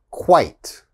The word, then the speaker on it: quite: diet quiet all right and the last one eight ite like sight quite quite so again quit